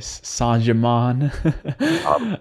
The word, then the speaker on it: Saint-Germain: working with right now adamus St Germain or san Jamon as he likes to be pronounced um how did that